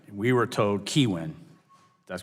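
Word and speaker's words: Kihuen: your staff to make sure we had the pronunciation right we were told keywin that's correct okay very good with the first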